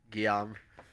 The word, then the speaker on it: Guillaume: He looks over at I'm gonna need a pronunciation again. I'm sorry. You said it like 5 times. Guillaume Mason. Dupuis. Guillaume.